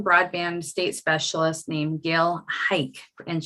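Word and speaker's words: Huycke: state specialist named gail hike and she says pronounce it like football h-i-k-e although her name is spelled h-u-y-c-k-e but gail hike and uh gail was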